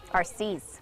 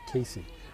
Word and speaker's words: Arcees: And Nicole, how do you say her last name? Arcees. Arcees. I always want to say Casey.